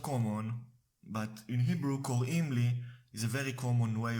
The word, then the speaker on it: קוראים לי: Now the third way of saying my name is in Hebrew is קוראים לי. קוראים לי roughly translates to they call me.